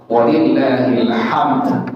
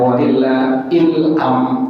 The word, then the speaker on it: walillahil hamd: Jadi walillahil hamd, ujungnya ada dal. Cuma karena dia dalam ilmu takbir disebutkan waqful isyarah atau waqful ruh, maka dalnya kita baca yang dengan telinga kita dan orang yang sebelah kita. Walillahil hamd, jangan walillahil am.